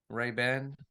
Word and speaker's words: Ray-Ban: Ray-Ban. Please, please. You're very committed on making sure people pronounce it correctly.